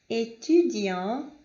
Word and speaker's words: étudiant: beaucoup, que termina em P, mas não é pronunciado, étudiant, que significa aluno, nous, que é nós, não é pronunciado o S, nez, que significa nariz, e laid, que é feio, ok?